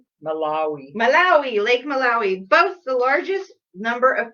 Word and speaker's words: Malawi: oh we won't be hiking um and then i hope i'm pronouncing this right um lake malawahi um that's what i just thought too malawi malawi malawi lake malawi both the largest number of fish species there's